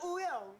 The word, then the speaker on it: Wooyoung: I'm Wooyoung. I'm Jongho. We are Oh, so it's like Wooyoung?